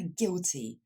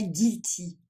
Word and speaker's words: guilty: Quatrième mot, c'est pour l'adjectif coupable, qu'on va dire guilty. Ce n'est pas guilty, deux petits i bien français. C'est bien guilty. Pour mieux prononcer le i final, il va falloir bien prononcer le t.